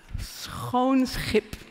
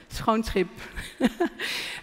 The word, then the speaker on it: Schoonschip: Schoonschip. Schoonschip. It's a beautiful word. It's actually a saying. It's schoonschip maken.